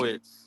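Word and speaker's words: Błachowicz: If you ever It's fight a fat pronounced- motherfucker in the it's street. Blachowicz.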